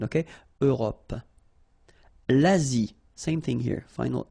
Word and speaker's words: Europe: Remember this final it's not really present. It only gives you the possibility to pronounce this P, PP at the end, okay? Europe.